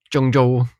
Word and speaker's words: Zhengzhou: Well, my family's in Jung Jo. Jung Jo. Yeah, that's how you pronounce it.